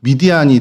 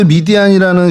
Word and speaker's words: 미디안: 그래서 이제 성경에 이제 어 미디안이 등장하는 뭐 땅 이름으로도 미디안이고 사람 이름으로도 미디안이고 부족 이름으로도 미디안입니다. 그래서 그 미디안에 대해서 조금 좀 설명을 드리면 어 미드이 미디안이라고 저희는 하지만 히브리 발음으로 하면 미드야이 이제 좀 정확한 발음이죠.